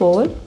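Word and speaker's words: way: इसे रेन बोलेंगे क्योंकि फर्स्ट वोवेल ए है और ये लॉन्ग साउंड लेगा। दूसरा वोवेल आई जो कि साइलेंट रहेगा।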